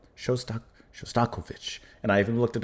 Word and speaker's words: Shostakovich: Shostakovich. I'm supposed to put a little bit more on the the co. Shostak- Shostakovich.